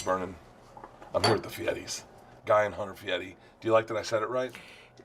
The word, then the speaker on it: Fieri: I'm here with the Fieris, Guy and Hunter Fieri.